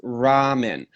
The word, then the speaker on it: ramen: They spell it with an R. Yeah, but we use our teeth when we pronounce it. It's ramen.